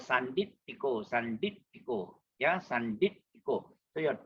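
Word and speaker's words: sandiṭṭhiko: And then T with the dot below is pronounced as normal English word top. And it's called Sanditiko. Yeah, Sanditiko. So your T hit the palate. Sanditiko.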